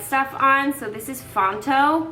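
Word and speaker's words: Phonto: So, this is Fontto. P H O N T O I believe it's spelled.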